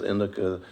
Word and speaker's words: indica: different strains, like sativa is more uplifting, whereas indica is going to be that. So, for this program, it would probably be more strains that are genetically sativa blends versus indica blends.